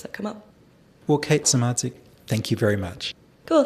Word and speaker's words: Samardzic: And my handle is just Kate_, my last name, Samardzic, which is Kate _SAMARDZIC with a silent D.